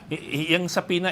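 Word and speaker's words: subpoena: be sending out saas saas sorry silent B saas for these vloggers to come to the next hearing uh sapina is not yet an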